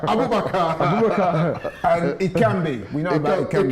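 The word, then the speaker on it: Aboubakar: Stop saying Abubakar. Abubakar.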